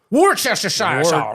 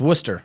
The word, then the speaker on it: Worcester: don't understand England because I see a city that is spelled Worchester and I think man that's Worchester Worchester or it's Worcester this it's Worcester Worcester woo why is it like that like when l l Lester it's ler one the pre Premier